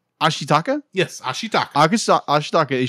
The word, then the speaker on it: Ashitaka: air quotes um like heels how do you pronounce the Zan ashaka Ashi taka thank you I am terrible with names as